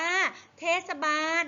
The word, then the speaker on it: เทศบาล: ฟาร์ บาน อ่าน ว่า เทศบาล อ่าน เหมือน มี สระ อะ นะ คะ เทศ บาล ไม่ มี นะ ลูก เทศบาล นะ คะ ต่อ ไป เอา โอมาร์ ศ.